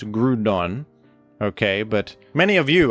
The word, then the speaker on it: Groudon: And there's words like crouton, for example, crouton, which might be a precedent for how I pronounce Groudon.